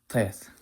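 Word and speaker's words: טית: In modern Hebrew, this is a simple T, just like the Tau. No difference between the two. However, in chosen Hebrew and in Sephardic Hebrew, it is an emphatic T. It's not the same type of T.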